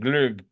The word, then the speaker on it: glögg: GLO with an umlaut, those little dots. GG, GLOGG, glögg. I think it's pronounced that way.